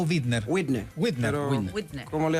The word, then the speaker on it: Widner: Primero, ¿se pronuncia Widner o Widner? Widner.